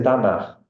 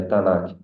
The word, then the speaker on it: Tanak: Store na e eh se pronuncia tanar n é tanar a escrita é tanak com k é t a n a k se pronuncia tanar é acrônimo de Torá